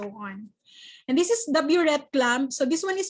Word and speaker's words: burette: So ang proper pronunciation po nun is burette po, hindi bure. Actually, it's bure. Yung Bisaya man ta burette. Ay, ako. Actually, it's bure. Bure yun na siya, pero burette is actually accepted.